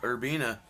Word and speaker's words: Urbina: Yep, Urbina. I got the pronunciation right on that one.